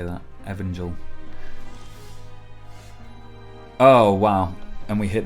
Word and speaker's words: Evangel: Evangel.